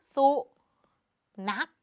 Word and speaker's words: สุนัข: ค่ะ ตัว ข ไข่ แต่ ใน การ อ่าน คำ นี้ เรา จะ อ่าน เหมือน ว่า มี ตัว ก ไก่ เป็น ตัว สะกด คือ สุ นัก แบบ นี้ นั่น เอง โอเค